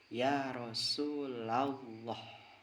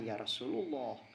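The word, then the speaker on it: يا رسولَ الله: rahmanu ketika setelah huruf Nida mudof maka harus dibaca nasab contoh Ya Rasulallah bukan Ya Rasulullah tapi yang benar Ya Rasulallah ya habiallah jadi ketika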